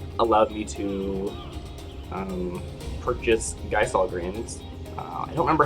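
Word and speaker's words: Gysahl Greens: me to um purchase geisol greens i don't remember how they pronounced they actually pronounced guy saw grades which surprised me in that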